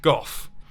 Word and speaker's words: Gough: British touring car champion Jack Gough (rhymes with cough) Now this was obviously